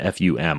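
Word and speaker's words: FÜM: Another thing that I really like is there's a pen called I believe it's FUM is the way you pronounce it, FUM.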